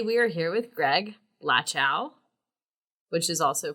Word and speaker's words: Lachow: your family pronounced well I say lash our that's how it's brought up but some people say the chow well who are the some people my son's a rapper and he says because it rhymes with a lot more things so since he's better